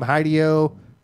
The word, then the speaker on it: Hideo: I think you mispronounced it. So Hideo Kojima. there you go. Hideo. It's Hideo Kojima.